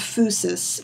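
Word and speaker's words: physis: the fusus now fusus is pronounced with the F and the u sound fusus but it's spelled like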